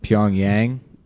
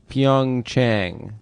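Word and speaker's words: PyeongChang: Pyongyang. Pyong Chang. What's that? is where the Winter Olympics are. Is it pronounced Chang or Yang?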